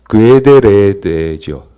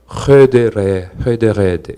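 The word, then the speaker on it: Goede Reede: 여기 보면은 영어식으로 이걸 읽으면은 괴데레데죠. 이제 사실은 지금 이게 후두음이 돼서 네덜란드에서 헤데레 이렇게 발음을 하는데요.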